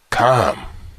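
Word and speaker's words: חם: language and why now the word is actually pronounced com as it is spelled with the guttural the popular pronunciation with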